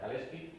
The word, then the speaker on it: Kalecki: autor de de keki a veces también que se pronuncia keski porque en polaco se pronuncia kalski como queráis eh el